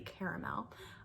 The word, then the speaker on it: caramel: They had caramel, or if you are one of those people who say it correctly, caramel.